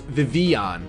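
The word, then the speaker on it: Vivillon: Veronica which is vivon which now I know it's vivon vivon I'm going to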